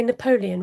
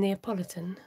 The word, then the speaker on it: Neapolitan: mint choc chip uh did you say napoleon rather than neapolitan oh no you did say it you said it right okay what do i